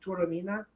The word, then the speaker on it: Taormina: Everybody must see Taormina. Turamina.